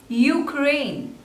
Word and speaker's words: Ukraine: Uganda Uganda next is Ukraine Ukraine Ukraine there are two slavors and the stress is on the second one you crane so stress is on crane Ukraine Ukraine Ukraine Ukraine